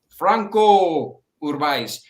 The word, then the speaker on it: Franco Urbaez: I try to say it, like kind of like Spanish way, Uh-huh. I heard you say it. It was, how do you say that? Because I watched that video. I do it the English. I do it English style for everybody.